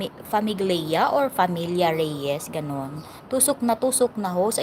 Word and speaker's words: famiglia: Familia Silent G pa, Bigcast dito si Italia. Okay. Kaya nga, naririnig ko kasi kay General na pag nagsabi siya, Familia Host. Familia, sabi niya. Silent G pala siya pag bigkas dito sa Italia.